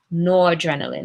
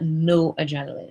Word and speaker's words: noradrenaline: And again, it's spelled N-O-R-A. It's one word, noradrenaline, not no adrenaline. It's noradrenaline. All right?